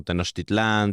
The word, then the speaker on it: Tenochtitlán: Oye, ¿por qué siempre veo Teotihuacán con acento en la última A? Porque está castellanizado. Ok. En el náhuatl no existen las palabras agudas. Ujú. Por eso es como Tenochtitlán, Teotihuacán. Pero en el náhuatl, en verdad, son casi todas graves.